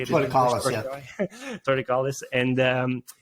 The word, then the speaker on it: torticollis: Also, like with plagiocephaly, flathead syndrome, tongue ties, and torticolli. Is that how you say it? Torticollis, Torticollis, and it's very common, even reflux nowadays.